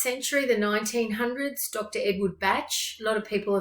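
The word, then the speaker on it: Bach: forms of treatment and his name is pronounced batch however for the sake of comparison to the composer bark a lot of people call him dr edward bark so he was a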